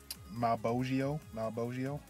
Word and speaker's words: Malbogio: I took a look here, and I think I'm going to go ahead and play with Malbogio. That's the way how it is pronounced. If I remember correctly, his Orion is on a Violin.